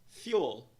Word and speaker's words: fuel: Pronúncia da palavra será, então, fuel. Duas sílabas, duas partes.